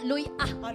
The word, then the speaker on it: luya: Hindi sa sa bisaya luya ah. Accent on the ah yes ah.